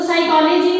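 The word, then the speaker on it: psychology: अब जैसे हम शब्द लिखते हैं साइकोलॉजी, तो साइकोलॉजी में जो पी वर्ड है वो साइलेंट रहेगा।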